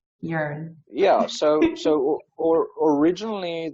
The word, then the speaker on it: Yearn: name like where did it come from it's pronounced urine right is it correct yearn yeah so so or originally the very first